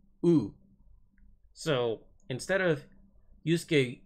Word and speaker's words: Yusuke: Yusuke, the main protagonist.